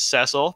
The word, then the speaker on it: Cecil: name, Cecil, and again, it is Cecil because that's how they pronounce it in every single voiced version of Final Fantasy, Dissidia World of